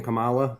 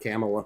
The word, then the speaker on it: Kamala: Tomato. Tomato. It's not It's literally It's literally You purposefully miss It's purposefully mispronouncing your name. That's just how I say it. That's how I identify. I identify as saying Camala and not Camela.